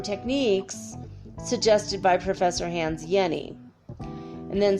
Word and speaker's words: Jenny: shalad knees and Jenni's I keep saying Jenny Henny yeni no yeni sorry je and n Weisfeld yeah there's pronounced Jenny in Switzerland anyway Yanni's work influence